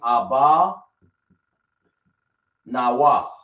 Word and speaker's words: Abba Nawa: So we're going to say Ah. We're going to say Ba. And then we're going to say Nawa.